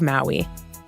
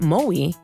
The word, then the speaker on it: Maui: This week, we are coming to you from the beautiful island of Maui, which is actually pronounced Maui in Hawaiian.